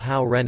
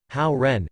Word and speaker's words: Hao Ren: Reminder, the pronunciation of Hao Ren is very similar to the pronunciation of good person in Mandarin Chinese.